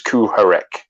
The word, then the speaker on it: Kuharek: Kuharak. Kuharak. Yeah, he said like Kuharek. No, he didn't say. There's no ch in it. It's Kuharek or something like that.